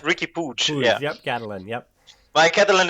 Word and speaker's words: Puig: I take boots you pronounce and right Ricki pooch yeah candolyn yeah my Catalan is not the best but then it's Ricky pooch yeah let's call him Ricky I think he